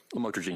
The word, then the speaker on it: lamotrigine: the drugs, about the Lamictal, otherwise known as lamotrigine. Did I pronounce that right? Lamotrigine, yes.